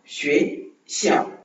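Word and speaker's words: 学校: ஒவ்வொரு முறையும் அந்த XUE அந்த சவுண்ட் வரும்போது நாம அந்த ஷுவே அந்த மாதிரி தான் ப்ரொனவுன்ஸ் பண்ணுவோம்.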